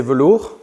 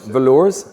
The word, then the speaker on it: Velours: No, we don't pronounce, we say velour, but you guys here would pronounce the S at the end, velours, and I thought it